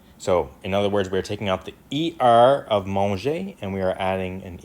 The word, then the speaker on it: mangent: Now you're not going to pronounce this ENT. You're not going to say on. You're not going to say ils mangent. You're going to say il mange. It's silent, right? You don't pronounce the NT at the end.